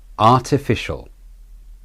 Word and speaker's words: artificial: these artificial artificial yes the r t and fish are the stressed syllables the fish being the main stressed syllable the shul is the de-stressed syllable with the schwa vowel replacing the a in shul artificial artificial the rhythm